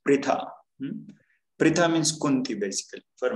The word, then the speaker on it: Pritha: This is pronounced as Pritha.